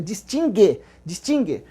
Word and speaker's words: distingue: Lembra que não tem pronúncia para o U aí, tá? O verbo tem o dígrafo no GU, forma um dígrafo, é distingue.